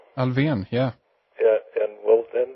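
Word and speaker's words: Alfvén: accent n uh and sigford said well that's alvan alvan yeah yeah and well then I have I've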